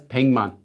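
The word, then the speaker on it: 백만: is a hundred so written as Pikmin pronounced as ping month and then how many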